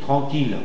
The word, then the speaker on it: tranquille: En fait on dira l'île tranquille antiatomique ville inle basile codicile antialcoolique gile.